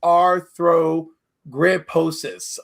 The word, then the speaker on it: arthrogryposis: I did find the right pronunciation. It's arthrogryposis.